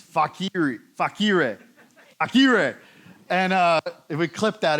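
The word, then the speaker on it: facere: And then, I gotta be careful about pronouncing this one, but it's fakire.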